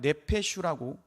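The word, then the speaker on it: נפש: 여기서 말하는 영혼이라고 하는 것은이 히브리어로 보면 네페슈라고 읽습니다.이는 생명체 살아 있는 존재 생명을 뜻하는 의미를 담고 있습니다.이는 무슨 말입니까?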